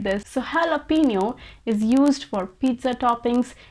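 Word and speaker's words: jalapeño: is it jalapeno or is it jalapeno well i'm sorry to say it's neither it's not jalapeno nor jalapeno in fact this word is pronounced as jalapeno jalapeno i know this sounds even more illogical than the previous one but that's how it is actually jalapeno is a spanish word for a chili that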